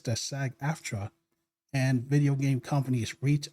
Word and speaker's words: SAG-AFTRA: SAG-AFTRA, and the whole contract issues and disputes about video game companies using your likenesses with AI without paying you.